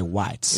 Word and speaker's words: White: So there's, Or as the locals say, whites.